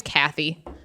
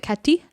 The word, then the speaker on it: Kathy: Anyways, so yeah, then we realized, so Kathy, her name's Kathy, but they pronounce it Katty.